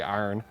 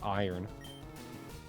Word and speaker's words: iron: They say iron, even though it's iron. I mean, to be fair, there's a country named Iran.